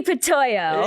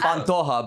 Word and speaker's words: Pantoja: Please welcome Ben Giroux and Arnie Pantoja. Hey! Did I You get were it so right? close. It was Pantoja, but hey, Pantoja.